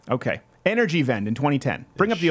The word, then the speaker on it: Energiewende: So Germany started a program in 2010 called, I don't know how to pronounce this properly, Energiewende? W is a V. Okay. Energiewende in 2010.